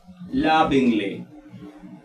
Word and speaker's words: lovingly: Por ejemplo, lovingly. En este caso aquí es lovingly.